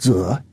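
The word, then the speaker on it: 子: Initially, master, pronounced zi in Chinese, referred to a low-level aristocrat.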